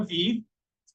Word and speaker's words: Vi: how I learned a v it's pronounce VI that's Latin for life and why I joined